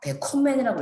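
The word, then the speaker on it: bekommen: 과거분사 개콤맨이 될 거고 콤맨 동사 왼쪽에 비분리 전철 배를 붙이면요. 강세를 기본 동사에 두셔야 됩니다. 배콤맨이라고 읽을 거고 과거분사가 다시 배콤맨이 됩니다.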